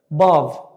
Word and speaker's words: bav: Bav, bav. Can you see? Can you notice my sound? It's a bit long. Bav, bav. I elongated.